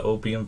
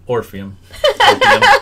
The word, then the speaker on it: Orpheum: So Graceland, I seen you just put out the one about the Opium Theater. We covered what? Orpheum. Orpheum. I said it wrong when I was doing those videos too, but we covered that already.